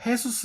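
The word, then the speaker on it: Jesús: 흔했던 이름이에요 지금도 어 스페인계 이름 보면은 예수 수 있어요 헤수스 라고 발음을 하는데 이게 꽤 흔한 이름이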